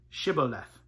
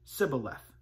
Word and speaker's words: Shibboleth: If he said no, they would say to him, "Then say Shibboleth." And they would pronounce it Sibboleth, for he could not pronounce it right.